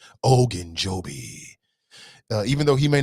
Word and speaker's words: Ogunjobi: Even though Ogunjobi. You got to say it like that. If you don't say it like that, then you disrespecting that man. Ogunjobi.